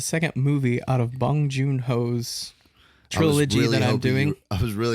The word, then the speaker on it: Joon-ho: I was saying Joo-ho, but it's Joon-ho.